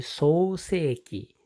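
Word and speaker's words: 創世記: 創世記 창세기를 소세기 이렇게 길게 소세기라고 발음을 합니다. 창세기는 소세기 天地の創造 천지를 텐치라고 하고 창조를 소조라고 합니다.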